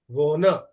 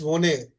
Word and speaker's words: wohne: So ish wona. You have to say it like this. Ish wone. It will never be said like this. Ish wone. Or some students they say ish wone. No, leave it. Ish wona.